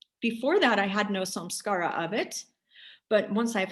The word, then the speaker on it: samskara: so the question was um do some scaras s-a-m-s-k-a-r-a and then s makes it plural do some